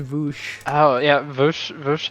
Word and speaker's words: Vaush: Yeah, it's pronounced Vaush.